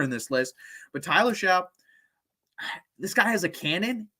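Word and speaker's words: Shough: it is possible next up we have Tyler shout a lot of people um mispronounce his name uh not really difficult to pronounce but it's just weird spelling obviously uh Tyler Xiao so I have him at number eight and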